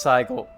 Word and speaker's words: 最後: 心配なのは This is pronounced saigo.